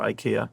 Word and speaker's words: IKEA: Should it be IKEA or IKEA?